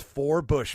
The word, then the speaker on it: Forbush: it number five number five number five is for Bush man for Bush four Bush not sorry not